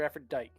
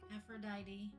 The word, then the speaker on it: Aphrodite: Aphrodite or Aphrodite? Aphrodite.